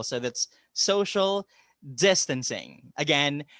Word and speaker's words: social distancing: pronunciation for that is the accent falls on the first syllable so that's social distancing again social distancing that's how it goes